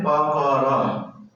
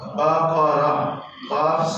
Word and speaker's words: بقرہ: ہی آتا ہے، تو اس کا صحیح تلفظ کیا ہے؟ اس سورت کا نام ہے بقرہ۔ کیا نام ہے؟ بقرہ۔ قاف ساکن نہیں ہے، جیسے با کے اوپر زبر ہے اسی طرح قاف کے